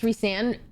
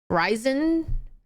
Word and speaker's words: Rhysand: His name being pronounced Rhysand irks my soul rather than Ryzen.